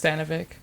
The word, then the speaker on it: Thanovic: It's thanovic. And it's because hankovic is hankovic, so it's spelled really the same, and then thanovic is thanovic with a hard K.